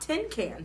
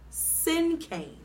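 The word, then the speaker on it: cinquain: me but it's not ten can he said you must have not heard me correctly the word it's pronounced like the words sin and Cain sin came May crossed her arms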